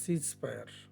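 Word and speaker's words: ceasefire: এখানে imperative sentence হবে stand up, আর এটার উচ্চারণ হবে সিজ ফায়ার।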